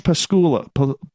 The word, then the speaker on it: Pasulka: Diana Walsh Pasulka. You think I should be able to pronounce her last name because I'm Ukrainian myself.